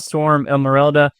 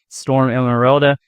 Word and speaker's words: Storm Emeralda: Today we're going to talk about Storm Emeralda. Yeah, I know I pronounced it wrong earlier. I think I was saying Emerald Storm or Storm Emerald, Storm Emeralda.